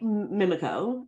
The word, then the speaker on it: Omiimiikaa: we pronounce thank you it's like mimiko okay the the piece